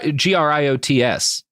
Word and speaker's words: griots: It's G gr i o ts. Yeah. Yeah. Yeah. Yeah. Yeah. Oh, okay. Cool. I was just pronouncing it probably wrong.